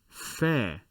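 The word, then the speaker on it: فاء: then put the dot this letter is the f sound in english fair or if you would like to use the ph sound fair so when you say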